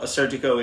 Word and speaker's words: Assyrtiko: 2021 papajinakis assertico um a lot of people will pronounce it um assertico I've heard other versions of it as far as I know a surgico is the correct way to pronounce it but I could be